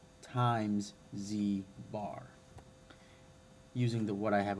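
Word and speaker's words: z̄: the conjugate z bar this is pronounced z bar and it's just a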